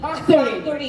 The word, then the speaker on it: factory: should be pronounced properly factory It's F It's not p you shit It's f it should be factory f f factory no ulitin mo f